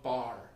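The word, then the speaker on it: barre: chord diagrams show what's called a bar, and that's spelled B-A-R-R-E.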